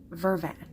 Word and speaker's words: vervain: okay so French Creole the accent that they had the word verbena vervain kind of came out vervain and so that kind of became van van over time so this pronunciation of